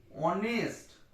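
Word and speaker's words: honest: অনেস্ট। অটা কি? Vowel sound. অনেস্ট, অটা তো vowel sound, ভাওয়েলের উচ্চারণ। তাহলে কি হলো? কনসোনেন্ট, এইচটা কনসোনেন্ট, কিন্তু এই ওয়ার্ডটার উচ্চারণটা শুরু হচ্ছে ভাওয়েল সাউন্ড দিয়ে, ভাওয়েলের মতো।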